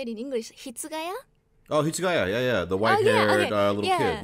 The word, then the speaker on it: Hitsugaya: Oh, Hitsugaya, yeah, the white-haired little kid.